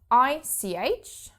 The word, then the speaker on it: ich: pronounce that and yes you don't only have this after the e but also after the i so i ch becomes ich and you might have